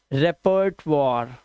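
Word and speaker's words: repertoire: ma'am वॉर ठीक है रेपर्ट वॉर रेपर्ट वॉर और लास्ट का ई साइलेंट रेपर्ट वॉर दिस इज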